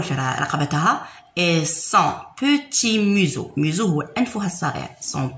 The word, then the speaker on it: museau: قلنا EAU تنقرأ O. هذه مو وهذه زو. علاش قريناها هذا اس؟ علاش نقراوه زد؟ لخاطر شوفوا موراه كاين فوايل امامه فوايل. راح في وسط دو فوايل. اس كي يكون في وسط دو فوايل ينقرا ز. ينطق ز ماشي اس وانما ز. قلنا ميزو.